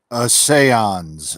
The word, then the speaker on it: Essayons: There is a chance that Essayons, am I saying it right? I know you told me how to say it, but I'm not entirely too sure. A seance, a A seance.